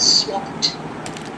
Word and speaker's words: swapped: Though it is ending in ed, I said swapped. Pronunciation is t. Can you see swapped? Swapped classes. Swapped. Okay, this is the past tense, ed, but pronunciation is t. T ending.